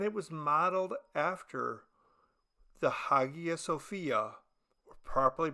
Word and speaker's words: Hagia Sophia: Construction took 40 years, from 690 to 730, and it was modeled after the Hagia Sophia, or properly pronounced Hagia Sophia, located in Istanbul, Turkey, which was then Constantinople, the capital of the Byzantine Empire.